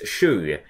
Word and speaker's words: Shu: Dragon Ball GT anime whose name was pronounced as shoe as in the objects everyone puts on their feet well everyone except Pawar